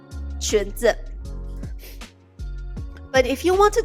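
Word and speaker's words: 裙子: Alright, so if you wear dresses or skirts, the overall term for dresses and skirts is 裙子.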